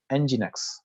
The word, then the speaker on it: nginx: move to that 37 so nginx it is pronounced as nginx okay it is a powerful open source server